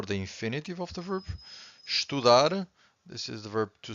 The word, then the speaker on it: estudar: Every time you have a word that ends with an R, you stress the final syllable, okay?